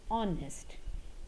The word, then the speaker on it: honest: is h o but h is silent here and we pronounce it as honest and it has o